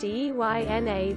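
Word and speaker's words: eina: Ina, pronounced Eyna. This is Afrikaans.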